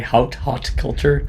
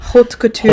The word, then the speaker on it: haute couture: Haute culture. Haute couture.